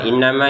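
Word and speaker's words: إِنَّمَا: Innama ini kan kita panjangkan dua harakat karena ada alif seing sebelumnya harakat fat fathah. Jadi kita panjang innama nahnu.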